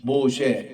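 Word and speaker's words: מֹשֶׁה: 이렇게 간단해요 모세 이러면은 음 에미이고 이거 신 모쉐 이렇게 해서 아 이게 이제 맨신 헤이 이렇게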